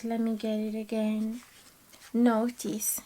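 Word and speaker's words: Nauthiz: Notice, yeah, not knees.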